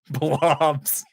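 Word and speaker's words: Pflobs: a little leaguer yeah it's spelled p-f-l-o-b-s blobs lot of silent consonants let that be a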